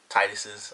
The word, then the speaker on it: Taijitu: they're all king um Titus's i guess is how you say it you know sort of an H sounding J but it was pretty cool